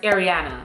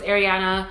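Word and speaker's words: Aireana: everyone her name was ariana and i love the name ariana again not ariana but ariana a-i-r-e-a-n-a ariana i love the name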